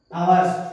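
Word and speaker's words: hours: अब आया हमारा फॉर 2 आवर्स, है ना। एच साइलेंट रहता है, आवर्स बोला जाता है, इसको ध्यान रखना, पीरियड या घंटे को, है ना।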